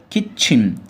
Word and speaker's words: kitchen: مطبخ يعني kitchen شورت اي كيت، والسي اتش بنطقها تشا كيت ش كيتشن على بعضها كيتشن.